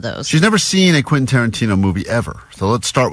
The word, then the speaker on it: Quentin Tarantino: Vanessa has never seen a Quentin Tarantino movie. Nope. And she's never successfully pronounced Quentin Tarantino. That's true. All week, as she's been talking about this prize we have, she's been saying, Quintanana.